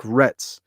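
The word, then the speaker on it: Ra's: arabic according to him it's supposed to be pronounced like rhetts uh but it's a comic book and in reality we can say it however the we want i say it like raz don't say it like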